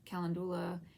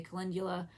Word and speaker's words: calendula: it and we're good I'm saying calendar you can say calendula it makes me think of Caligula so I'm saying calendula I am doing oil